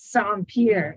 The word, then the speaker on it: Saint-Pierre: He's like, okay, it's like sand and like a pier, like when you go to the boats. And so he's like, it's Saint-Pierre.